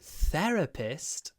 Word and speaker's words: therapist: just hold it to make sure you get a perfect with your with the sides of your tongue between your teeth therapist my therapist my